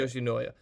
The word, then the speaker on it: Yoshinoya: a bunch of people are saying that the Yoshinoya, You got how's it. it pronounced? You got it. Yoshinoya.